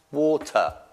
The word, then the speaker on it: water: Ricordando che l'R con l'ultima lettera non pronunciala mai. L'ada. Water. No R.